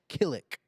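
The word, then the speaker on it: Qilin: Kilick. Starts with a Q.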